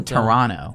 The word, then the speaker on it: Toronto: played in or Kevin Hart yeah man from Toronto it's actually Toronto I know that was the whole controversy because